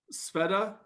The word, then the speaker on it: Sveta: Uh and then just so I don't get your name wrong, Sveta?